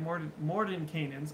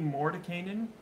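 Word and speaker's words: Mordenkainen: was able to get Morden Canaans. I've been saying Mordecainan the whole time, but there's an N right there. Morden Canaan. For years, I've known that name, and I've been saying it wrong.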